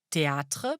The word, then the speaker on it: théâtre: Théâtre, par exemple, vient du latin theatrum. Le rôle de l'accent circonflexe est ici d'allonger le A. Il faut donc prononcer théâtre.